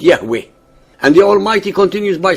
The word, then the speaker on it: Yahweh: himself as I am which in him Hebrew is pronounced Yahweh and the almighty continues